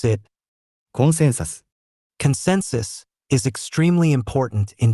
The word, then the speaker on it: コンセンサス: Consensus, we pronounce it コンセンサス。